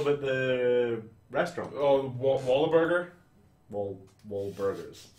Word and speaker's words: Wahlburgers: Wahlburgers. Why did you add a syllable to their name that you just said? Wahlburgers. Wallaburger.